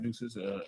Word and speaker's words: Nueces: Nueces, N-E-W-I-S. N-E-U. Like deuces.